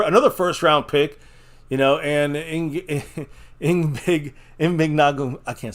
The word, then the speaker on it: Igbinoghene: Mahogany. It rhymes with mahogany at the end. Yes. Igbinoghene. Igbinoghene.